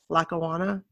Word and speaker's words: Lackawanna: alone to buffalo well lockawana new york i think that's how you say it lackawanna it is i didn't have any